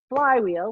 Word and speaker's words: Phlywheel: I have a company, Truly Inc., TRULYINC, but also we have a marketing community that we run called Phlywheel, which is spelled PHLYWHEL, like Superfly, Flywheel. Very 90s reference.